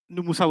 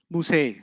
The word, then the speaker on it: Musa: Musa will always be non-flexible. Musay. You haven't heard Musi, you've heard Musay. That's a qira'ah difference. It's a pronunciation difference, not a grammar difference.